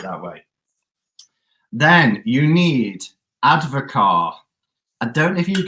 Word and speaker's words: Advocaat: Yeah, ADVOCAAT, Advocar. So the T is silent.